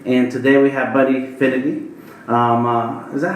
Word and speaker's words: Finethy: And today we have Buddy Finethy.